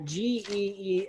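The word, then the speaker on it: γέεννα: Now, the actual Greek word you're going to find in your Greek manuscripts is that second line there, Geena, and it's actually going to be pronounced very similar to Gehenna, even though it's spelled differently.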